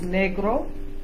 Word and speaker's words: negro: In Spanish, the word for black is negro. Negro. Negro. Negro. G, g, g. Say G. Make a hard G sound. G. Hard G. G. Like go. Go. Go. Yeah. Go. So negro. Negro.